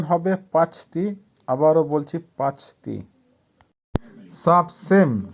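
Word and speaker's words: почти: পাঁচতি, পাঁচতির অর্থ হবে প্রায় বা কাছাকাছি। উচ্চারণ হবে পাঁচতি।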